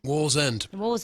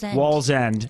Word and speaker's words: Wallsend: I pronounce this correctly, Wallsend? Wallsend. Wallsend. The end of the wall.